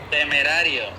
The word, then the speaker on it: Temerario: model the temp Mario อะไร like correctly temerario Temperario Temperario right Ask cake to pronounce cake pronounce temporari temperar